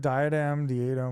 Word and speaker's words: diadem: Oh, it's diadem diadem. Thank you. Thank you. Diadem. That's crazy. I'm pronouncing it that badly the whole time.